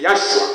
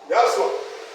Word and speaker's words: Yahshua: On prononce, on dit Yahshua. Pour bien prononcer, on y met même des voyelles. On fait comme ça, Yahshua.